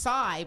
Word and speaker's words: Say': TV show is pronounced sigh but it's the sigh. It's pronounced sigh but it looks like say tell us TV show.